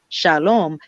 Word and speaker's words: shalom: You have to have that O, that ow sound, that ow, that wav, sound.